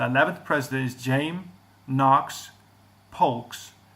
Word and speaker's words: Polk: The 11th president is James Knox Polks. Is almost spelled like folks, so P-O-L-K instead of F-O-L-K.